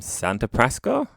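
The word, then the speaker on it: Santa Prisca: And this episode, we are going to talk about the man from Santa Prasca.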